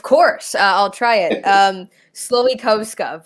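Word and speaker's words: Slowikowska: i'll try it um sloikovska sloey posca it's very polish um that's the the english pronunciation of my last name now we a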